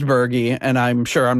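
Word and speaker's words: Berge: Cuz I've been thinking in my head Bobby Burge for the last, you know, 25 years or whatever. And I I never knew that it was pronounced Bergie.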